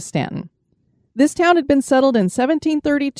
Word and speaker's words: Staunton: chosen and this is spelled s-t-a-u-n-t-o-n I hope we're saying that right I listened to different videos some said Staunton some said Stanton we're going to go with Stanton this town had been